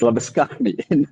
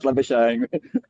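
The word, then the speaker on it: Labuschagne: Yes, Labany. Not Labash obviously.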